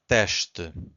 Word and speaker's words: teste: So again, S before a consonant, it's a sh. Two syllables here, we have to stress the first one, so it's teste. So we stress this one, and the second one is weak. Not silent, but weak. Teste.